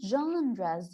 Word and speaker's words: genre: You know, we are going to learn about the different genres. You know, you see this word. This is called or pronounced genre.